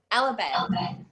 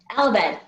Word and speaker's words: Alabed: Alabed. Alabed. Okay, so exactly as it looks.